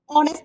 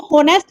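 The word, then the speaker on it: honest: तो ए swarm of वीज़ ही is dash ऑनेस्ट मैन। ही is dash ऑनेस्ट मैन। इसको होनेस्ट नहीं पढ़ते। एच इसमें साइलेंट है।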